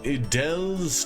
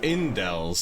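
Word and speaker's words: Indels: Heading to Idel's castle. Is it? I think I keep saying that wrong. It's Indel's, isn't it?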